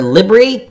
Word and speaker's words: LBRY: SEC files request to file Sir reply regarding motion to strike, citing the SEC versus Library decision, or Libry. I keep forgetting how that company is pronounced, LBRY, decision in which